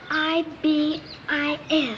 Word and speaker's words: ibis: I don't know how to say it it's i b i s Ibis yes Ibis tell me something hi where